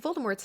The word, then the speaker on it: Voldemort: Rin confirmed that while almost every single person has been saying Voldemort's name wrong apparently it's Voldemort it's a pretty unanimous mispronunciation Apple keyot Time